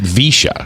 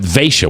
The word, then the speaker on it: Vaisha: I would have pronounced it Visha, because I think it's spelled the same. But Vaisha, what a beautiful name.